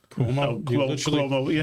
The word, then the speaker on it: Cuomo: 51.5 to Kumo's 39.7. You mispronounced Cuomo. Oh, Cuomo, yeah.